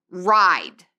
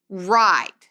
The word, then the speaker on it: ride: Entonces tenemos palabras como ride, ride. Ahí vamos a decir esa primera letra, la I, y no vamos a pronunciar la E.